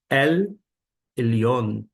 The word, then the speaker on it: El Elyon: A pronúncia aqui é uma transliteração do hebraico que feita fica El Elyon, o qual foi ao